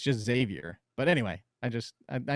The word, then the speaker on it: Xavier: people call it xavier xavier no just it's x xavier which you're not supposed to because that's you're not supposed it's just xavier but anyway i just i know you hate